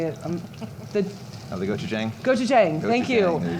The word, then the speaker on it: gochujang: gochujang.